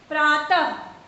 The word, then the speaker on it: प्रातः: प्रातः, उच्चारण करते समय ह व्यंजन ध्वनि आपको ज्यादा सुनाई देगी, उसका उच्चारण ह के समान होता है।